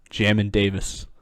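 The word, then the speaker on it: Jamin Davis: uh jamin yeah jamin yeah no it's jammin jammin davis so i'm gonna say it like that i'm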